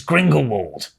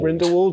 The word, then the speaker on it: Grindelwald: we like our big main events dumbledore versus gringo wald did i say it right grindelwald yeah like this is the hyped fight like